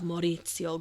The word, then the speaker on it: Maurizio: This is the murder of Maurizio Gucci. Maurizio. Oh, I think I'm saying that right. I looked up how to pronounce it.